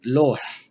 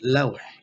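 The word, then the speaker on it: لوح: but in formal Arabic, we read it as lawh. There is fatha ala lam. So when we speak Arabic, you may hear it loh, that's fine. But in the formal Arabic, it's pronounced lawh.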